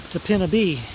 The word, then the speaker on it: Topinabee: That's what I was told by a guy in Cheboygan is how it's pronounced. I've been calling it Topinabee, Topinabee, but he says it's Topinabee.